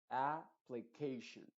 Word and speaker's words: application: que la por ejemplo en el caso de application la a también se tiene que enfatizar application o sea las dos